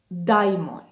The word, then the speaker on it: daimon: antiquity there was a word in ancient greece daimon i'm not pronouncing it as per english if you see the letters of that word and you would want to pronounce them in english they would sound differently but i am pronouncing them as per greek as how they were pronounced at that time and from that word